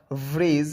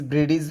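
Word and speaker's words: bridge: ব্রিজ ব্রেডিজ হবে না। সেতু।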